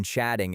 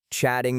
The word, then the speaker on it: chatting: In spoken English, the gay in chatting is often reduced, making it sound like chat tin.